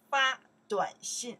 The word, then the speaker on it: 发短信: 发短信 To send a text message 发短信 Okay, that's the character we pronounce 发 In that case, 发 is to